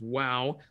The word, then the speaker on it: Vav: Hey, wow, Vav is pronounced as wow.